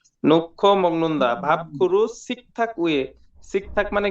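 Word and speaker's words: 놓고 먹는다: তারপর পাবগুরুসুন সিগদাং নোহাগো মাগনুন্দা নোহাগ মগ্নুন্দা উচ্চারণ হবে না এখানে নক্ষ মগনদা ভাবখুরু সিকথাকয়ে সিকথাক মানে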